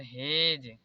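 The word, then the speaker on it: hedge: यहाँ पर एज, यहाँ पर हेज, यहाँ पर बेज। अब हम लोग ई साइलेंट देखते हैं।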